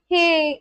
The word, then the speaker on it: hej: J pronounced as Y. Hey.